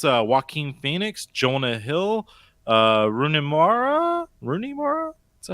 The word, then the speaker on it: Rooney Mara: It's Joaquin Phoenix, Jonah Hill, Rooney Mara? Is that how you pronounce her name?